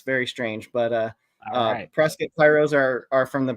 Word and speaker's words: Prescott: lot of those um Prescot Arizona it's spelled Prescott but they call it presc I don't know what